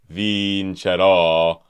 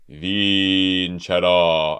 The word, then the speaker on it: vincerò: So instead of E, vincerò, it's vincerò.